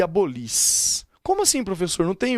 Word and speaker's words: abolis: Abolis, qual é a sílaba tônica? No lis, portanto, fora do radical.